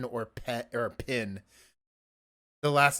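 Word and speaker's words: Penn: who worked with Danny I think you said pen but you might be saying pin well his name is spelled p-e-n-n uh I I thought it was going to be pin at first then I'm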